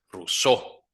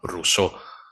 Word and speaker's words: Rousseau: Rose, doble S, Seau, E-A-U, se pronuncia como O. Rousseau. La O y la U como U, Rousseau.